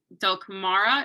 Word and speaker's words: Dulcamara: Yeah, Dulcamara, is that how you pronounce that?